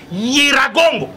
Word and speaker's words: Nyiragongo: Na bingai Jijika na yebisa kabino le 15 mars 2018 que volcan Nyiragongo, eza Nyiragongo te, eza Nyi, c'est comme ça qu'il faut prononcer ça. Nyiragongo na Goma et kotomboka et kosala éruption na 2021 na mois de juin.